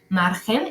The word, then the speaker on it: margen: seguimos con agricola luego margen notemos otra vez que está que esta palabra margen se escribe con g pero en realidad lo que suena es una J por lo tanto en